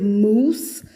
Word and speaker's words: mousse: An O and a U together can sound like oo, like in routine, and in the word mousse, like chocolate mousse. Chocolate mousse is spelled with an OU, but the OU sounds like oo, exactly the way it sounds in this word routine, okay?